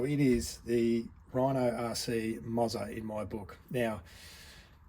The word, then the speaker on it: Moza: in my book now I am sure there is going to be more than one person tell me I'm pronouncing that wrong and I'm happy to be wrong I'm still not going to change the way I pronounce it I'm still going to call it the Mozza and heaven forbid you say that my wife is wrong and it's not the mozah want to get that